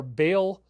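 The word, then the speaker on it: Bael: the five demons are Bale which he calls ball in the show interestingly enough I've used that pronunciation too asmodus Leviathan Lilith and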